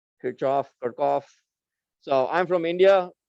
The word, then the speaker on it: Kirchhoff: you say this name kirchoff kirkoff so i'm from india the way we pronounce this uh name over there is kirchoff and that's how i learned it so if you ever